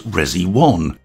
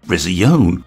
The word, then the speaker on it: Resione: Now, I've heard this brand pronounced a few different ways, such as resi1, resion, and even resign if you want a little French flare. Personally, I'll be sticking with resion as it feels right to me. Plus, it'll give the pronunciation police something to argue about.